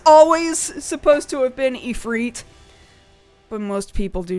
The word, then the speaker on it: Ifrit: to reteach myself like I've always known it should be pronounced efreet but it's really hard when you've just sort of casually been saying Ifrit like your whole life